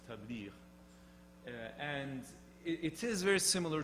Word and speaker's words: tabligh: The Quranic pronunciation is tabliğ.